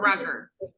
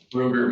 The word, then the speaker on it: Ruger: Do you pronounce it Ruger or Rugger? Ruger, ma'am.